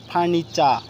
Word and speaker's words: furniture: মতো আমরা ঠ পড়েছি, টি ঠ এর মতো উচ্চারণ, বাট এখানে কিসের মতো হয়েছে? চ এর মতো হয়েছে। যেমন ফার্নিচা, ফার্নিচা, হ্যাঁ, FURNITURE ফার্নিচা, টি এর পরে ইউ আছে, ফার্নিচা, ফার্নিচা, ওকে।